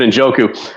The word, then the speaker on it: Njoku: To pronounce it correctly, it's David Njoku.